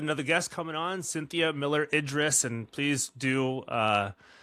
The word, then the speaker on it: Miller-Idriss: And I was like, oh, the last name is the same as his first name. That's exactly how you say it. Yep. Okay. Perfect. All right. So now people know Idris Elba, Cynthia Miller-Idriss.